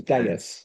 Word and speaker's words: Devs: Um And and it turned out that Devs, in in Roman Latin, the V is actually U. So, the title of the program was Deus, which is spelled God.